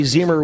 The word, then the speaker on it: Zeimer: He stops me almost every Friday night when he can at Mississippi Thunder Speedway to let me know and remind me that it's Zeimer with an E.